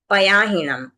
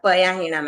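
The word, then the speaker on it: पयाहणम्: है वैसे ही आयाणम पयाहणम आयाणम है और पयाहणम है पायाहणम नहीं है तो इसका भी ध्यान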